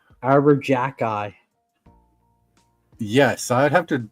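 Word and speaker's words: Arber Xhekaj: It does not pronounce the way it looks. I have no idea. Arbor jack eye.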